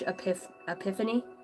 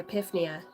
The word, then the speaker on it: epiphany: to be this huge epiphany. I actually said it right that time. Normally I say epiphania.